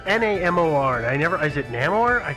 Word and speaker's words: Namor: Does either of you know how to pronounce the Submariner's name? It's Namor.